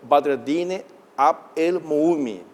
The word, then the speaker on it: Badreddine Abd-El-Moumni: del Reino de Marruecos en Paraguay, el señor Badreddine Abd El Moumi.